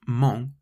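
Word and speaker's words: -ment: In French, it's just as simple as in English, except you add the letters m n t, pronounced mong, to the end of the adjective instead.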